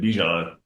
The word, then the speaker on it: Bijan: when I was like telling him how to pronounce my name and I told him like how my mom pronounces it. But then you know for me like I think I've always said it Bjon and now now people